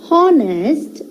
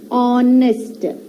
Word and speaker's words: honest: y and est as honest it is wrong we have to put this h as silent it is honest honest man and honest